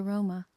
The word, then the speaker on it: Roma: Whenever a people met the Roma, they immediately gave them a nickname, usually an insult. But they call themselves one word, Roma, stress on the first syllable, or Romale, neformally.